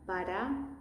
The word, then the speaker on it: para: That's the soft one. Para, para.